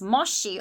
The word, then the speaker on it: Moshe: And so if you read the tabernacles, the ones that in Hebrew, his name's pronounced Moshe, or in English, Moses, the tabernacle was built in many different materials, and bronze, silver, and gold was used.